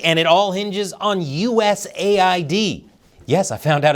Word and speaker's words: USAID: The fate of the world is at stake, and it all hinges on USAID. Yes, I found out it's pronounced like that and not USAID.